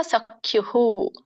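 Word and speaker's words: ಸಖ್ಯುಃ: ಸೋ ಪಿತೇವ ಪುತ್ರಸ್ಯ ಸಕೇವ ಸಕ್ಯುಹು ಕ್ಯೂ ಇದೆ ನೋಡಿ ದೊಡ್ಡ ಕ ಇದೆ ಮತ್ತೆ ಉ ಸ್ವರ ಕೂಡಿದೆ ಅಲ್ ಸೋ ಅದು ಹಾಗೇನೇ ವಿಸರ್ಗ ಉಚ್ಚಾರಣೆ ಆಗುತ್ತೆ ಸಕ್ಯುಹು ಹ ಅನ್ನೋದು ಏನಿದೆ ಹು ಅಂತ ಬರುತ್ತೆ ಸಕ್ಯುಹು ಪ್ರಿಯ ಪ್ರಿಯಾಯರ್ಹಸಿ ಇದನ್ನ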